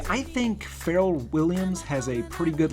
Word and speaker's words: Pharrell: How do you say his name? His name is definitely Pharrell.